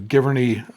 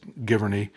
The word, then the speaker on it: Giverny: We're going to take a day trip to Giverny, Vernon. So it's probably better known as Giverny, or Giverny, however you want to pronounce it.